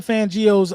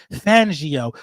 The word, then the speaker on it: Fangio: listen to fangio's um let me say his name right everybody keeps saying I'm saying his name fangio you know what I mean everybody want me to say it like I'm like like I'm Italian fangio when I listen to